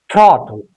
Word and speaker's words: throttle: But here if you look at this T and L, no vowel sound between these two consonants.